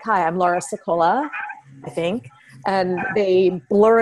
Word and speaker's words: Sicola: what they've heard so when I say my name I'd say I'm Laura sekolah Laura sekolah instead of Laura Scola like right so when